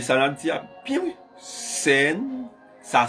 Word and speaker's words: CERN: La machine de scène, prophétie biblique, nous commençons à attaquer.